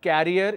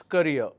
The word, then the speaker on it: career: succeed in your career it's not carrier it's courier all right if you